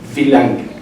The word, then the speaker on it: wie lange: alemán, por ejemplo, y la pronunciación es wie lange, wie lange.